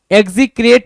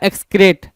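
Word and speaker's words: excrete: तो इसमें आपको देखने को मिल रहा है क्या, डिस्पाइज, डिटेस्ट, लोएथ, एबोमिनेट और एग्जीक्रेट या एक्सक्रेट। एग्जीक्रेट कुछ लोग पढ़ेंगे, कुछ लोग एक्सक्रेट बोलेंगे, दोनों सही है।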